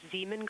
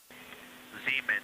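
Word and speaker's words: Zeman: We believe that's Zemen Crater. We believe that that is Zean Crater. Oh, I floated away from the speaker. Say it again, please. Zemen.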